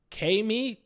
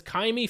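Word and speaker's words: Ka'imi: It is I can never pronounce his first name. Kaimi. I think it's Kaimi Fairbairn, the Texans kicker.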